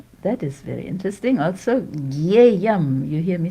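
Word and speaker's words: ज्ञेयम्: Also, Gyeyam, you hear me say Gyeyam. It's written Gyeyam. And that is because that's too hard. Different parts of modern India pronounce that combination, Jia, in different ways. We follow North Indian style.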